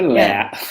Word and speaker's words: laugh: If you can take a bath, have a laugh. I can't do that one. Laugh. How do you say laugh? Laugh. Yeah. Like Laffy Taffy.